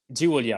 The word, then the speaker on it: Giulia: Giulia, it's Giulia, right? I pronounce it correctly, right? Giulia.